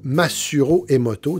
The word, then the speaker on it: Masaru Emoto: Ça s'écrit comme ça se prononce, Masaru Emoto.